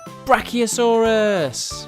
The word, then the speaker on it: Brachiosaurus: let's learn all about Brachiosaurus how do you say that again brass key oh so wrists do you know how